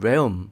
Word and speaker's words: realm: m이 함께 있을 때는 l은 발음을 거의 하지 않아요 그래서 원어민 발음 아까